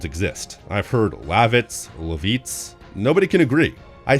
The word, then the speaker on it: Lavitz: I've heard Lavitz, Levitz. Nobody can agree. I think the general consensus is Lavitz and my Google speechtoext function agrees because Lavitz is the pronunciation that it recognizes.